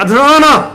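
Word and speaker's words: Atlanta: 아틀란타가 네가 아틀라나 하니까 T자 발음을 왜 T자 발음을 안 하지?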